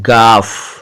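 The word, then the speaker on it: گاف: ग के लिए उर्दू में गाफ अक्षर है, गाफ। देखिए उच्चारण सुनिए इसका, गाफ। ग आ की मात्रा गा और फ के नीचे नुक्ता फ, गाफ।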